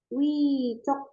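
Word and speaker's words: 위쪽: Atas itu bilangnya wicok. Wicok. Oke, wi. Terus kalau bawah itu arecok. Arecok ya. Jadi ini double J ini kita bacanya C.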